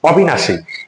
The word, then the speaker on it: অবিনাশী: হসন্ত হবে এক জায়গায় এবার আমরা দেখব হচ্ছে অবিনাশী এখানে হচ্ছে অ এর পরে রস্বীকার আছে অধিকাংশ